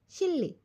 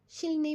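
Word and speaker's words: 실레: Practice में आया था, हमने इसे शिलने पढ़ा था, विच इज़ रॉन्ग। ठीक है, एक्चुअल प्रोनाउंसिएशन शिल्ले होनी चाहिए, क्योंकि रियल और नियन जब साथ में मिल जाता है तो वो रियल की ही साउंड देता है, ल की साउंड बना देगा, आई मीन।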